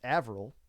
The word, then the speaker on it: Arvel: Arvel, pronounced Avril, is going to be here as well.